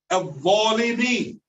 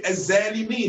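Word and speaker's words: الظالمين: Al-zalimin, the oppressors, the wrongdoers. They say az-zalimin. They pronounce it as a zag. Az-zalimin. Az-zulm. Who was zalim? Wrong. This is incorrect.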